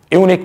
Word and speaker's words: unique: and unique position here you will see the existence of you II and you they're basically vowels but their pronunciation is not the vowel here because you are pronouncing at University European and unique that is you we